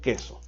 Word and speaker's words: queso: El que habla pronuncia K-E-S-O, queso.